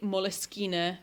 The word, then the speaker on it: Moleskine: elastic, I have attached 3 moleskine or moleskin, however you prefer to pronounce. There is no prescripted way to pronounce that journal.